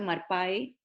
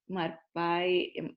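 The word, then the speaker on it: מרפא: Esta palabra se pronuncia marpai, marpai, se escribe marpe, es la palabra que se usa cuando se habla de mansedumbre.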